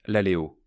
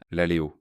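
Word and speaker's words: λαλέω: Pour un homme, n'importe quel homme de cette administration, n'importe quel homme, pour prononcer le mot grec « prononcer ». Est-ce ce terme magnifique, l'aléo ? L-A-L-E-O, l'aléo.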